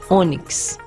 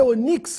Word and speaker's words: ônix: paroxítona terminada em x Ônix a pedra preciosa Ônix circumflex no ó para você não ler Onix que deve ser uma pedra falsa tórax e não tórax